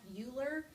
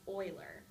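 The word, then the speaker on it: Euler: or vertices or edges it looks like uler but it's pronounced Oiler so oil's formula says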